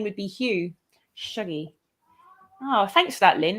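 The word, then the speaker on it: Shuggie: I'm from near Glasgow, and Shuggy is actually pronounced with an as in mug, not an oo as in shoe. So Shuggy Bane.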